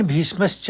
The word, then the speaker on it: भीष्मश्च: भवान भीष्मश्च में तीन आघात आपको दिख रहे हैं। एक व के ऊपर एक भग यानी इ की मात्रा पे उसे और एक म पे।